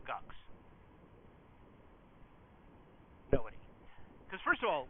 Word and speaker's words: GUCS: First of all, who knew before they walked in the room that it was supposed to be pronounced GUCS?